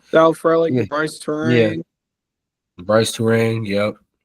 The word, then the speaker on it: Frelick: You got Yelich who contributes, Frelick. I think I said his name wrong. Sal Frelick, Yeah.